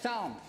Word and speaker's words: Psalms: psalms um it's pronounced psalms psalm song song what but it's spelled with a p prison yeah but the letter p is silent then why is there